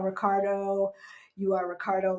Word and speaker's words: Ricardo: But here they say Ricardo. Ricardo. Right? They barely, right, George? Because they barely pronounce the O.